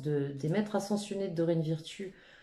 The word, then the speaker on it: Virtue: On va aller regarder cette carte de confiance des maîtres ascensionnés de Dorine Virtue. Enfin, Virtue, j'aime pas Virtue, moi j'aime bien plutôt le prononcer à l'anglo-saxonne.